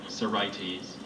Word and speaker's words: Sorites: Sorites.